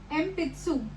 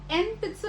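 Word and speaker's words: えんぴつ: आप इसको एन पित्सु नहीं बोलोगे, आप इसको एम पित्सु बोलोगे, क्योंकि इसमें जो एन है वो पी के साथ आ रखा है।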